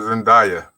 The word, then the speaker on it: Zendaya: say it zendaya i guess two people said zendaya zendaya yes yes that girl yes yes you